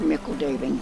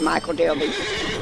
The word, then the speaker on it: Michel Delving: it I call it Michael daily but I think the hobbits here I think they're pronouncing it Mikkel or something similar to that but I call it Michel delving or saying that's just